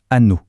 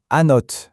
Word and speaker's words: Annot: On dirait donc an simple. Et pourtant, ce serait une erreur. La bonne réponse, la voilà. Anote ce T final qu'on a l'habitude de laisser muet dans plein de mots en français. Et bien ici, il est absolument crucial.